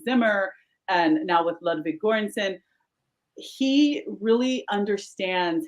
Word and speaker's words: Göransson: Pronounce it for me. I know you're an expert. Ludwig Göransson.